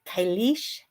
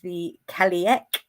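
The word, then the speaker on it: Cailleach: Uh, some people pronounce it kish, some people pronounce it the calc. That sounds a bit clunky to me.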